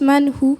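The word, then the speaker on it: מן הוא: Qui se prononce manhou selon les commentaires bibliques que j'ai trouvé.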